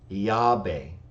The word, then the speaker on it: Yahweh: He says, the Samaritans pronounced the divine name Yahweh, iota, alpha, beta, epsilon, Yahweh, which kind of sounds like Yahweh, the closest I've seen, in terms of a phonetic transliteration.